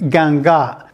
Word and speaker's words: 尴尬: from Joe it's actually from Wong this character pronounced ganga it means to be embarrassed or to be